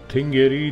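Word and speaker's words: Þingeyri: थिंगयरी, जिसकी स्पेलिंग पिंगयरी होती है, पी अगर आप उसको इंग्लिश में पढ़ें तो पी, मगर जिसका थ प्रोनाउंसिएशन होता है।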